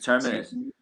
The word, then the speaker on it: Terminus: Is that how it's pronounced? Tremonus or Terminus. Terminus? Excuse me. Yes, Terminus.